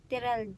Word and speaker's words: Terelj: Tomorrow, we'll be heading to Terelj National Park. How you pronounce it again? Terrell.